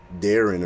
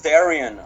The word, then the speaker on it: Darion: name wrong I remembered I think it's Darren or Daran I I I'm sorry if I botched your name nope it was Darion it was Darion is